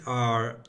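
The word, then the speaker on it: Aodh: comes from the medieval name A or E spelled A E D H or A O D H.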